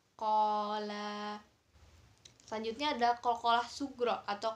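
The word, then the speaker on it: قال: Jadi di sini ada fathahnya di huruf qaf bertemu dengan pasangannya yaitu alif, jadinya panjangnya 2 harokat. Jadi bacanya qola.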